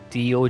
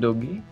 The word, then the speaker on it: doge: D-O-G-E. What is the meme? That's what Isn't I mean. It like doggy? Isn't it doggy? It's doge. For some reason, I'm not sure why it's pronounced that way.